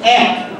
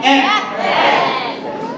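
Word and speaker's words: এক: So one, egg. I can hear you. Egg.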